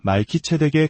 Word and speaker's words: 멜기세덱: 멜기세덱 히브리어 발음으로는 말키체에 가까운이 이름은 위의 왕이라는 뜻을 가지고 있습니다.